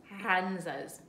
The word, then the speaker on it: Runza: Now, we are making RUNZAs. RUNZAs. You don't have to roll your R's.